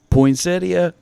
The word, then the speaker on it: poinsettia: Poinsettia, I am right. And you're not going to get me to believe otherwise because I know that's exactly how it's supposed to be pronounced.